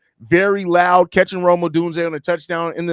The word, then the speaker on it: Odunze: That's not how you say it. There's an N in there. You just got done trying to correct me and then say it wrong. Odunze.